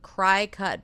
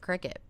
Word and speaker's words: Cricut: So, Saturday, September 27th, Cry Cut Basics. Everybody calls it Cricut. I feel like it reads cry cut.